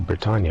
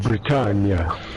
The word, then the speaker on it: Bretagne: Bretagne. Bretagne. Yeah. Yeah, let's just say like rhymes with lasagna.